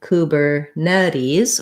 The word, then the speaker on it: Kubernetes: let's listen okay so they're saying kubernetes with um second to last syllable stress and so if we were to write that with the ipa kubernetes we would see stress on the net and then an ease